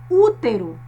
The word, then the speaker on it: útero: A terceira palavra é útero. Percebam que o U com acento agudo torna este som na palavra mais forte.